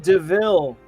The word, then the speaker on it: De Vil: uh the horus character said it spelled devil but pronounced deville you know clunker of